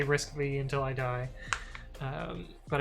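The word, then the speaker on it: RISC-V: was pretty good risk five i know it's pronounced risk five but i'm going to say risk v until i die um but it was it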